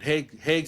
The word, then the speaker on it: Hegseth: I can't pronounce his last name. What Hegseth? Hexeth, yeah.